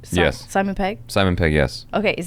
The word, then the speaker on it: Simon Pegg: Simon Pegg?